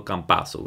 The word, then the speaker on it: Campazzo: That's right, Facundo Campazzo. It's pronounced like pizza, all right?